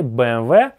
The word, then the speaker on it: BMW: Вы и так всё поняли, BMW. BMW. Помнишь? Это буква W, а не V.